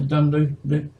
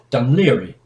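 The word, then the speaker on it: Dún Laoghaire: route from Holyhead to Dunloe here. Let's get the proper pronunciation. The Irish won't like me if I don't. Dunleary.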